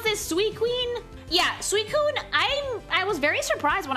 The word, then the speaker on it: Suicune: How do I pronounce this? Suicune? Yeah, Suicune, I was very surprised when I found out that this was not an ice type.